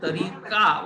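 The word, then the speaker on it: طریقہ: तरीका म्हणजे तरीका उच्चारताना तरीकाच म्हणतात, पण स्पेलिंग करताना ह लावतात, तिथे छोटी हे लावतात.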